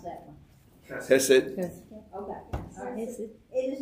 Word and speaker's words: hesed: It is the word, pronounce that one. Hesed.